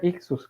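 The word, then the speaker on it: ἰχθύς: oter es el el en griego este se pronuncia ictus las primeras letras de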